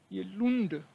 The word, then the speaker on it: Lund: तो ये लुंड, लुंड होगा, लुंड नहीं होगा, लूंड। जस्ट लाइक कूल, फूल, स्कूल।